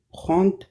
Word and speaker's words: prends: Je me réveille à 7h30 et je prends mon petit déjeuner. Nour, Oui. dès que D se prononce pas.